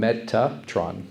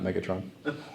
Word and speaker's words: Metatron: Metatron. Metatron. Yeah. Not Not Megatron. So change the G to a T.